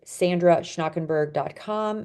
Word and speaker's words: Schnakenburg: our books are sold um my website is Sandra schnakenberg my last name is spelled s c h n a k n